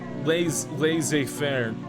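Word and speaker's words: laissez-faire: hey oh yes lazy fairs Laz La Fair yes that's how you say it in the call meanings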